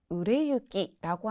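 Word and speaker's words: 売れ行き: 보통 이쿠라고 읽는 경우에는 정말 이렇게 걸어가거나 어딘가에 가거나 이런 식으로 가다의 의미로 쓰일 때는 이키라고 읽는 경우가 많고요. 추상적인 표현으로 미래를 향해서 나아가다 라고 하거나 진행된다라고 할 때는 유라고 읽는 경우가 많습니다. 약간의 팁이랄까요?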